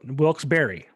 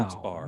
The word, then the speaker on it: Wilkes-Barre: But there's 3 specific ways that they always joke about how to pronounce that area. It's Wilkes. Yeah. Wilkes. Well, let's do it. Wilkes-Barre. See, dude, I've never said that shit. I've So always been neither a bar. What? Never a bear.